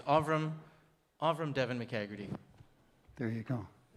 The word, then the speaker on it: Avram: It's Avram Devon McCagherty. There you go. Avram. But if you're from Revenue Canada, it's spelled, no, just kidding.